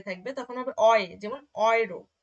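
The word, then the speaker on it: Euro: তারপরে এ এবং উ যখন একসাথে থাকবে তখন হবে অয়ে, যেমন অয়রো, অয়রো, ঠিক আছে?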